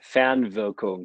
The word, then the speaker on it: Fernwirkung: you could kind of correct me if I pronounce it correctly. So I've been practicing. So, Spukhafte Fernwirkung. Is that close? Spukhafte Fernwirkung.